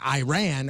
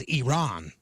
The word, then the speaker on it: Iran: whatever then why have you continuously gone about mispronouncing our country's name by saying Iran when it is Iran he said thank you um I didn't know